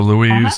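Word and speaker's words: Luise: u c k so Louise is l u i s e just like it sounds H is h u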